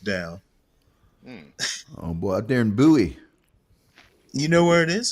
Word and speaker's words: Bowie: boy out there in Buoy you know where it is is it near Dallas oh everybody know where buoy is you don't pronounce it Bowie okay well buoy knife